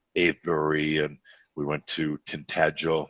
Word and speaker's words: Tintagel: and we went to tintagel is that how you say it yes and we then we